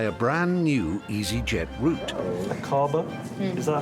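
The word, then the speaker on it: Aqaba: Pilots to fly a brand new EasyJet route a Kaaba is that how you pronounce it yes a cover that's right Iris it's akaba in Jordan five and a half hours flying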